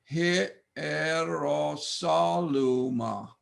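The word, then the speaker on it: Ἱεροσόλυμα: We pronounce this word Hierosaluma. Notice no diphthong. Hierosaluma. Accent, sol. Hierosaluma.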